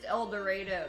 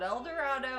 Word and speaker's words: El Dorado: And it's pronounced El Dorado, Kansas. It's not El Dorado.